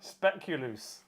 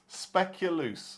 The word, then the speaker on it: Speculoos: Either spell it or say it slower. Speculoos. Speculoos.